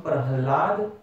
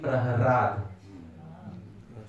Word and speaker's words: Prahlad: But the syllable La is in Sanskrit language often exchangeable with the syllable Ra. So instead of Tala, you can also say Tara. Alright, so you can, sometimes you will see in Srimad Bhagavatam Prahlad, sometimes you will see Praharad. You will see both names. So there is a rule in Sanskrit grammar, the syllables R and L are interchangeable.